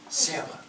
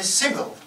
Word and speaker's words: Seva: Now, Clifford couldn't for the life of him pronounce my name, which is simple enough, Seva. He called me Sybil.